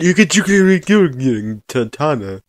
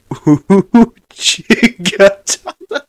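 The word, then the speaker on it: 打刀: Maybe if you pronounce it properly, I'd get more of a clue. Okay, this is gonna make it worse. Uchigatana. But all. An uchigatana. I heard uchigan katana.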